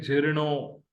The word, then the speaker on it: झिरणो: सिंधी में बोलते हैं झिरणो। झिरणो, झिरणो, ये झे है, ये जीम और है नहीं है, ये झे है।